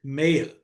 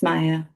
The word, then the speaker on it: Maya: And it it is Maya. Or have I been mispronouncing your name? Is it Mayia? It's Maya.